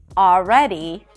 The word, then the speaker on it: already: The next hack is that you don't have to pronounce the L in the words always, alright, and already. It's not a mistake to pronounce the L, but if you're struggling with the L, just drop those sounds. Simply pronounce an ah sound right before.